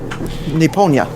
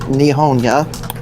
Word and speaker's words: Nipponia: Oh, the continent we are from is known as Nipponia. Yes, although some people who are not familiar with the tongue pronounce it Nihonia.